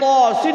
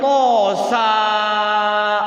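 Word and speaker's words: طس: Itu ketika ngaji tosin dibacanya tosa. Waduh, tosa jadinya. Karena dianggapnya sinnya itu bacanya sa.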